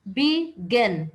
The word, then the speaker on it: begin: Begin, begin. B is one syllable, gin is another, begin.